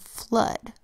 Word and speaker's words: flood: just two base words double o makes a short u sound these words are blood and flood let's write blood on